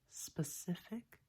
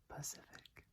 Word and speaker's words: specific: I'm originally from the Seattle area, so specific, not Pacific.